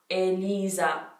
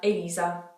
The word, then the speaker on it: Elisa: Maybe people would say it how they say my name. I have no idea. Let me know how you would have pronounced it. It's E-L-I-Z-A, Elisa.